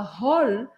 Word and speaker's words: hall: A gente não fala hall, mas a gente fala hall, porque os franceses nunca pronunciam H, mesmo em inglês.